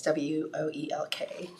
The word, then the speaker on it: Woelk: Okay, so this is from Mike Welk. I think I pronounced it right. It's Woelk.